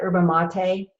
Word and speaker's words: yerba mate: Yerba mate, Y-E-R-B-A, mate, tart cherry, mango, guava, lemon peel, and beetroot.